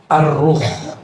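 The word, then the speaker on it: الروح: istilah kedua Ya itu arruh bukan roh ya arruh kalau roh apaalagi tuh ya bacanya Ar Aru pakai alif lam ini teksnya alif lam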